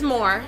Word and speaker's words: Moore: The last name is Moore. It rhymes with whore.